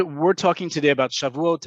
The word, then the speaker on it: Shavuot: generations have been however in modern hebrew the name is shavuot that is the name